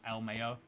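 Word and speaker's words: LMAO: to to exist um I pronounced laau as El Mayo oh you do want so yeah I I feel like then it would be e l m a y o uh aod it but yet you're pronouncing it but yet you're spelling it l m a o um so yeah the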